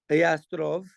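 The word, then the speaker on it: Jastrow: can just go get Yastrov. That's how they say it in Hebrew.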